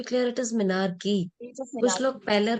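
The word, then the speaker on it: menarche: मैं हर क्लास में कहती हूँ, there are few medical terms जिसमें आप अगर, जैसे कुछ लोग मिनारकी को मिनार्क बोलते हैं, you should be clear it इज मिनारकी।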